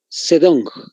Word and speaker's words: Zedong: llama Mao zedong anótense Mao tal como se escucha Mao Sedán se escribe con la z Z e d de dedo ong sedón tal como se escucha Solo que con la Zeta al inicio entonces Mouse es También